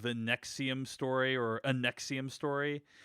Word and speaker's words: NXIVM: it's called like the nexium story or a nexium story and it's about this thing called nexium which is spelled nxivm but it's pronounced nexium like the antacid drug uh and it's basically